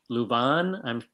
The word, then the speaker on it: Leuven: Next stop on Jan's journey, Leuven. How do you pronounce that, Ron?